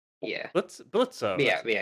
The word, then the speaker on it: Blitzo: Blitzo. Yeah, That's it. yeah, it's Blitzo. I yeah. like that. Well, Blitz. Blitz. Okay. The O is silent.